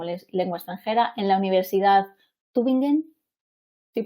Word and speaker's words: Tübingen: Actualmente es profe de español como lengua extranjera en la Universidad Tübingen. ¿Sí pronuncio bien? Tübingen.